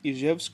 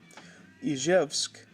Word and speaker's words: Izhevsk: So the ZH in Izhevsk in the English version, you pronounce that like the S that you would say in the word vision.